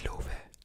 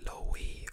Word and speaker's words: Luve: As I said, it's Luve, nothing like Lowy or Low, it's just Luve.